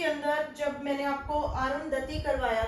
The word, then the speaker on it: अरुंधति: किया, मैंने स्पेल किया अरुदंती, लेकिन इनके जो नाम का स्पेल है वो है अरुंधति, और मैंने स्पेल किया अरुदंती। ठीक है जी, तो ये मेरी मिस्टेक थी। तो अरुंधति इनके नाम का करेक्ट प्रोनाउंसिएशन है, और जो मैंने बोला वीडियो के अंदर अरुदंती, ये करेक्ट नहीं है।